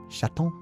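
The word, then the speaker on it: chatte: But apparently, yeah, feminine cat is shat and male cat is just sha sha sha sha sha. That actually makes it much easier. So it is just sha sha sha gendered.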